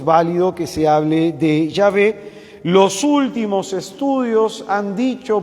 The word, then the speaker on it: Yahvé: válido que se pronuncie Jehová es válido es válido hermano entonces es válido que se pronuncie yahvé también es válido y Cuál es mejor los judíos contemporáneos pronuncian yahvé no Jehová ni yoha como dicen algunos